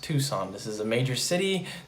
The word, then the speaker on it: Tucson: this word right here this is not pronounced tuxen this is pronounced tucson this is a major